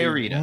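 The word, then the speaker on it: Teoritta: Teorita, which would be Teorita. much better if you could roll your R's.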